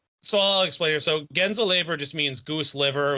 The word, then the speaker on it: Gänseleber: in German, the umlaut over the a gives it either a long a sound or like an s sound. Because if it were gans, it would be gans. But then with the umlaut, it's gens or gains. But it's gens.